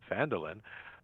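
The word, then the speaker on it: Phandalin: Times were good, and the nearby human town of Phandelver, pronounced Phandelin, prospered as well.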